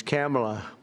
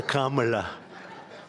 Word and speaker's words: Kamala: I said, "Is this the same pronunciation?" No, sir, it's a little different. It's Cam, right? Cam as opposed to Com. We don't like Com.